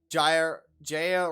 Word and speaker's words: Jaya: Jaya rhymes with Leia.